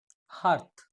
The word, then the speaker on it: hearth: পরের লাইনটা স্যার এখানে হার্ট, এখানে HEART, এখানে এটার উচ্চারণ হার্টই হবে তো? হার্থ হার্থ হার্থ আচ্ছা স্যার, ঠিক আছে।